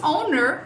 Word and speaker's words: owner: Depois, owner é só acrescentar um chuazinho no final. É só acrescentar um chuazinho com R. Owner.